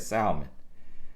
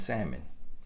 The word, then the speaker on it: salmon: here huh my salmon when I just said Salman but I believe the correct pronunciation is salmon y'all google it and